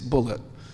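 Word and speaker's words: Bulliet: He spells his name B-U-L-L-I-E-T, and he pronounced it Bullitt. He corrected me. He said, no, my name's not Boulier, it's Bullitt.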